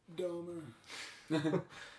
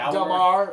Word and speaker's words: Dahmer: Domer. What? I'm sorry. I can't go by Jeff. Jeff Dom. I go Dahmer. It's pronounced Damar. It's a French.